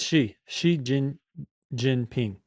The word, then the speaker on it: Xi Jinping: It's Xi Jinping.